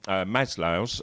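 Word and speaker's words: Maslow: And these are Abraham Maslo. I'm going to say Maslov sometimes because I've been reading lots about him for years and I always called him Maslov and now I found out it's Maslo today when I was doing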